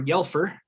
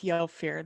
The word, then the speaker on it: Yelfir: Chris is playing Yelfir or Yelfer. She'll correct that pronunciation. Tell us a little bit about your character today. We'll go with Yelfir. That seems to work better.